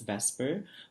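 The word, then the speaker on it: VSEPR: model all right so it's v s e p r but it's pronounced as vesper which stands for valence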